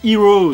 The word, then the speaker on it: Hiro: double sens parce que Hero c'est un vrai prénom pour eux mais ça se prononce comme le mot anglais qui désigne le héros.